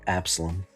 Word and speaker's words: Absalom: Like Absalom.